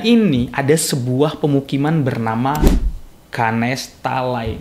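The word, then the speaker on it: Ganesh Talai: Nah, dan di dekatnya ini ada sebuah pemukiman bernama Ganes Talai. Ya, mungkin secara pengucapan agak sama tapi yang dimaksud Saroo ini adalah Ganes talai berakhiran huruf I itu ya.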